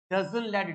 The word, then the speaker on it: डजन लेड: इसको local language में डजन लेड, DAZAN डजन लेड, और DAZAMLAD डजन लेड। सिर्फ स्पेलिंग में फर्क है, किसी किताब में M लिखा, किसी किताब में N, मगर ज्यादा ऑथेंटिक डजन लेड है।